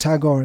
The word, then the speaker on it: Tagore: Pronounced Tagore, the Anglicization.